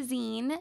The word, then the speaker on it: zine: want to get the zine even go to so here calm slash zine that's Zi and II like the last syllable of magazine tell him how you